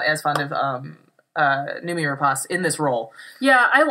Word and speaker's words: Noomi: Noomi.